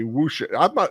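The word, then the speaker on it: wuxia: Yeah, Delisi is telling me whoosha. Am I pronouncing it right? Whoosha? Because it's not a kung fu movie. It's more, I could say martial arts film, but it's whoosha. Lester says whoosha.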